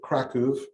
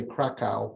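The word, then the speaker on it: Kraków: our story starts in i pronounce it kraku that's the way polish people pronounce it americans would say krakow poland and this is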